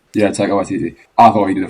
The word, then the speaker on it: Taika Waititi: It's just the I don't know how to pronounce his name. What's it? Taika Waititi. Yeah, Taika Waititi.